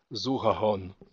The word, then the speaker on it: zuhahon: and in Astapori it's zuhahon. So here's a change in the sound g when it's between two vowels. It's now pronounced as h.